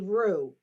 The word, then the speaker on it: roux: parts flower oh wait a roux a roo spell that r o u x a roo oh a roo whatever